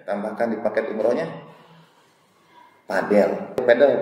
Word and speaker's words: padel: Padel bacanya yang olahraga baru itu.